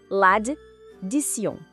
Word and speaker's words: l'addition: Vamos quebrar ela em sílabas para facilitar. Primeiro, lad. Depois, di. E o final, tion, que em francês tem um som que parece sion. Então, a pronúncia correta fica assim. L'addition.